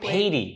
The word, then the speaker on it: Pady: Danielle Pady. So close. Fuck, friggin'. Dang it. I thought I got it. Like Pady. Like lady. Pady like lady.